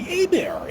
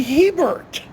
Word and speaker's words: Hebert: They're pronouncing it Billy Hebert when it should be Billy Hebert.